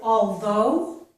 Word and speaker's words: although: This though is pronounced exactly as this though, okay? So that, I've put it underneath there, so that means it also has the voiced TH and the O vowel sound, okay?